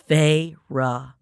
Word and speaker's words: Feyre: She drew out the two syllables of my name. Here it is, y'all. Feyre.